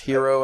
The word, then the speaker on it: gyro: I started reading that like I was reading the word gyro, which is also pronounced hero, actually. So, yeah. But I always pronounce it gyro because I'm stupid.